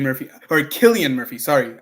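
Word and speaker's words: Cillian: great movie I love San Murphy or Killian Murphy sorry I don't like saying s because that's not the way it's pronounced Killian Murphy uh I'm assuming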